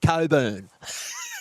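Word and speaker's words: Cockburn: And look, the in-joke with David Radlich, he plays out of the Coburn Bowling Club. Yes, but it is spelt C-O-C-K, Burn.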